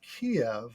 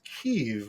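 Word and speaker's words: Kyiv: and thus he says Kiev which is the old pronunciation versus keev which I believe is the more correct Ukrainian pronunciation you're absolutely right but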